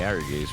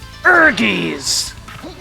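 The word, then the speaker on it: Ehrgeiz: fighting game we're playing Ares right which I will pronounce like that forever because that's what the title screen told me is the way to say it actually the title screen said urgies urgies you have to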